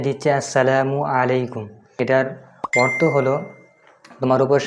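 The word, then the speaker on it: السلام عليكم: তো এটা সঠিক উচ্চারণ আসসালামু আলাইকুম। অনেকে সালাম দেয় রানিং অবস্থাতে, যে সালামালাইকুম, আসসালামু আলাইকুম, আসসালামু আলাইকুম।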